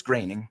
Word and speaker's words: Groening: We're talking about Mac Groening because it pronuncia Groening. Groening. No es Groening. No, Groening. debería ser Groening, but no, it's Groening.